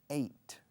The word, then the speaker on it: ate: Yesterday I ate. Se escribe ate, se pronuncia como el número 8.